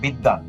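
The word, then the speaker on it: বিদ্বান: উচ্চারণ হয়েছে বিশ্বাস একেবারে বিদ্্যান দ এর সাথে বফলা আছে এজন্য দ টা দুইবার উচ্চারণ হয়েছে বিদ্যান একেবারে রাজত্ব ত এর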